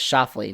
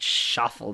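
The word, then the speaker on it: Schauffele: pick I picked Xander shafley his name is shafley not shaffle that I was saying shaffle he finished third how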